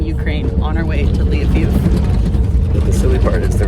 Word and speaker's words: Lviv: You know, I'm back on the bus, and we are officially in Ukraine on our way to Lviv.